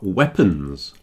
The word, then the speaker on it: weapons: These things are weapons. Weapons. Okay, I know it's W-E-A at the beginning, but we only really pronounce the E.